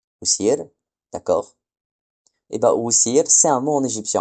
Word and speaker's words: wsir: Donc, avec un peu de jugeote, si vous avez retenu, on obtient "ou s i r". Donc, si on transcrit rapidement, ça donne "Ousir". Ousir, d'accord. Et ben, Ousir, c'est un mot en égyptien ancien et c'est Osiris.